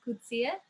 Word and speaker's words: Kutsia: We are and Kutsia, and most people don't know how to pronounce our surname, but it's Kutsia.